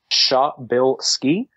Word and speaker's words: Przybylski: follow me on Twitter it is my name phonetically shop Bilski sh u h bi ll s ke e and then once you